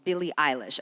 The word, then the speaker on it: Billie Eilish: You released a song called Billie Eilish.